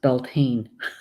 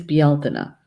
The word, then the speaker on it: Beltane: old Irish yell Tana the word looks like it should be pronounced Beltane but it's not it's BL tuna and it's a it's